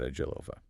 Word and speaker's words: Agilova: from the brokers at Agilova. And just for anyone taking notes, that's pronounced Agil Ova. Yes, Agillhva.